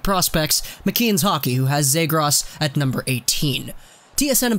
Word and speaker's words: Zegras: we have ourselves today Trevor zros which I'm pretty sure that's the pronunciation I've heard most people say zros so I'm going to go with that myself zros is a